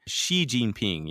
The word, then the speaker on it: Xi Jinping: And the X sound is not an SH sound, but you could just say she, like he, she, Xi Jinping, that would sound a lot better than an Xi Jinping.